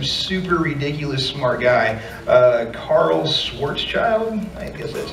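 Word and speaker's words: Schwarzschild: some dude some super ridiculous smart guy Carl Swartz child that's how you pronounce his name was the first one to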